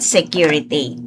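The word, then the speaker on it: Sécurité: Alright, security. This is how we are going to pronounce it. Say, cure, ray, pay.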